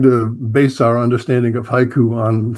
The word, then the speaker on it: haiku: people English speakers ears, you think what they're saying is hike. Mhm. So one syllable because they they don't the the the oo part of it is just often not pronounced, you know.